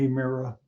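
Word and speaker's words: ἡμέρα: The Eta, Mera, Hemera, not a long A sound, but Hemera.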